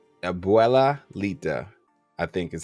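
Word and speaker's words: Abuelita: So Miguel and Grandma Abelalita, I believe is how you say it, Garcia. You said it right. Abuela Lita, I think is how you say it.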